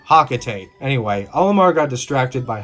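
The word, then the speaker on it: Hocotate: And I know, Palutena pronounces it Hokatate, but no one else pronounces it like that. Everyone I know pronounces it Hakatate.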